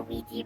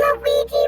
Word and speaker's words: Ouija: to the counter and the amount of different ways people would pronounce it were just absolutely astonishing i lost my when it's like a teenage girl you know who walks on up and goes can we see the luigi movie that hit them that made me happy obija was a common one and then sometimes i